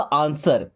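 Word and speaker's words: answer: जैसे यहां पे लिखा आंसर आंसर नहीं पढ़ते डब्ल्यू इसमें साइलेंट होता है।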